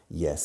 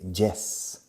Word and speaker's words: yes: Pero fijaros en la pronunciación. Yes. No se dice yes. Yes. Yes. Entrando como si fuera una I latina. Como en la palabra hielo en castellano. Hielo.